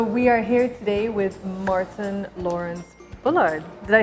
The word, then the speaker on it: Martyn Lawrence Bullard: so we are here today with martyn lawrence-bullard did I say it correctly you did good